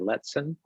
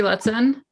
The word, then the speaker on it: Lutzen: So now we have, and correct me if I'm pronouncing this wrong, Nalligan and Letson area variance? Yes, that right? it's Timothy Lutzen, and my husband is Patrick Nelligan.